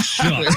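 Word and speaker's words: Shough: A shook. But it's spelled show.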